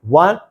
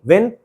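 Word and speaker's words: won: Modern English में हम विन वन वॉन वॉन नहीं विन वन वन। इसकी सेकंड और थर्ड प्रोनंसिएशन वन। स्पेलिंग वही है। प्रोनंसिएशन होगी वन।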